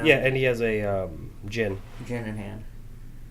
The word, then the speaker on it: Djinn: Or some people say Djinn. Jin. Some people pronounce the D. Don't know why. Those are the same people that say knife instead of knife. So. Yeah, I mean they're wrong.